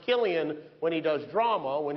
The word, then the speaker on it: Cillian: Interesting fact about his name, it's pronounced Cillian when he does drama.